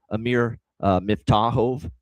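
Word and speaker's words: Amir Miftakhov: So I made sure I looked it up for Amir Miftahov, and that's how you pronounce it for this kid.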